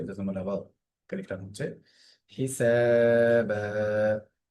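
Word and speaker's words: حسابا: হিসাবা, সিনের একালিফ বা একালিফ, সেম নিয়ম রিপিট হলো।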